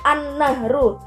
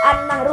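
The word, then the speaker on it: النهر: itu dia dimasukkan gitu jadi alif lam itu enggak salah gak kelihatan dibacanya itu dia langsung dimasukkan ke grup setelahnya kayak anu brush an-nahru ada al-islamiyah tapi tetep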